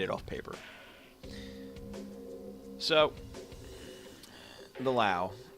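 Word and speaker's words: Löwe: All right, so this is the Lowe or Lowe, however you want to pronounce it. I say Lowe.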